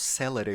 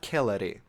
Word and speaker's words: celere: The bit in Latin in the middle of Hunter's Moon, Celere, which they pronounce Celere, which is very weird, because it's neither classic nor ecclesiastical pronunciation, but that's besides the point.